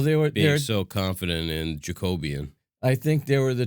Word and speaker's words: Jacobean: podcast series my pronunciat my pronunciation of uh jacobean yeah and now i'm totally confused as to what it actually is i think it's jacobian jack of bean yeah i stand corrected i feel like a